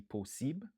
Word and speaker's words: possible: Qui signifie possible. 3 syllabes, nous accentuer sous premier.